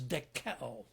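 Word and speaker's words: δοκέω: Another idea comes from a Greek verb that is pronounced as dekeo.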